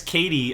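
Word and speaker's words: Cady: Mean Girls where is Katie originally from even say her name right without her name it's it's spelt like caddy but it's Katie oh okay everybody good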